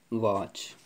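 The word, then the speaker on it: watch: ये साइलेंट हो जाता है, टी पढ़ने में नहीं आएगा। CH, वॉच।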